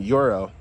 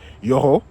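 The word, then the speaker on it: Yoro: I saw a deep ball from Yuro. Yoo. I got to start pronouncing his name right. You know, I speak a little bit of French. So, Yoo.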